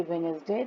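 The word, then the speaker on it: Wednesday: Sunday, Monday, इसको बोलना भी सीखना है, Sunday, Monday, ट्यूसडे, वेडनेसडे, D silent है इसमें, वेडनेसडे नहीं बोलते हैं, क्या बोलते हैं, वेडनेसडे, थर्सडे, फ्राइडे, सैटरडे।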